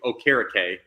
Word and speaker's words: Okereke: Like, hey, we had some issue when Bobby Okereke went to Okereke, as that's how it's properly pronounced, and a lot of people struggled.